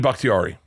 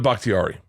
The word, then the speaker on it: Bakhtiari: say it tiari yeah David bhaktiari okay David bakhtiari his eyes his eyes yeah made me I